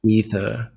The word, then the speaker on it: Aether: I think it's Taki Aether. said Ether. Aether, is it? Yeah. Is it a silent A? We got to find this. This is the most The important. A is silent.